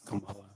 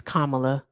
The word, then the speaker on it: Kamala: Yeah, you you uh pronounce Camala's name wrong. It's Kamala. It's Kamala.